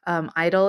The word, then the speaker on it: idyll: Idyll is a homonym, so you have three different spellings, but they're all pronounced the same.